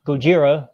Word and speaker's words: Gojira: got the first one, which is actually pronounced Gojira, which is how it was originally pronounced, and then I think